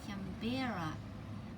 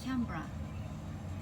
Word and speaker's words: Canberra: and she mispronounced it placing the accent emphatically on the middle syllable making it cambera rather than lightly on the first as in camera or even canberra never mind the young